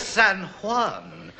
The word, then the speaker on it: San Juan: It's San Juan and San Jose. Help me God. Yes, in Spain, they always pronounce the J's as H.